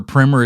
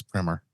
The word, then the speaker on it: Primer: going back to 2004 talking about primer or primer as Bruce calls it take a drink every time he mispronounces that one Bruce only Bruce calls it